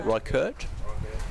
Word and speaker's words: Reichardt: ticking nicely that was young reichardt is that right i've got a pronunciation right there yeah that's what i've been going with yeah right right curt okay right kurt okay 171 for six does